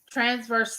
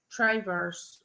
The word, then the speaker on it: Traverse: you're going to uh transverse city michigan did i pronounce that right traverse well how do you